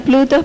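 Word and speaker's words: πλοῦτος: Creo que se pronuncia Plutos, pero se deletrea P-L-O-U-T-O-S. P-L-O-U-T-O-S.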